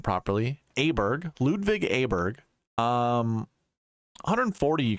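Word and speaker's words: Åberg: found out how to say his name properly aberg Ludwig aberg um 140 you can see in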